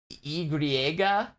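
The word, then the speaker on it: i griega: Wait, so just the letter Y is pronounced Y-griega? Y-griega? Y-griega?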